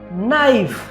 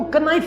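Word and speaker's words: knife: ठीक है, तो इसको कनाइफ नहीं पढ़ते, इसको नाइफ पढ़ते हैं, इसकी प्रोनाउंसिएशन नाइफ है।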